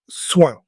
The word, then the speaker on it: soin: Today's word is soin. Say it with me, soin. Listen for the nasal sound at the end.